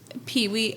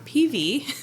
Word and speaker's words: PIWI: I'll explain what PIWI, or it's actually, I'm pronouncing it wrong, PV.